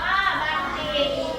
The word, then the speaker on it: บัณฑิต: จำ นะ คำ แรก ค่ะ บัณฑิต อ่าน ว่า บัณฑิต บัณฑิต อ่าน ว่า บัณฑิ มณฑบ อ่าน ว่า มณฑบ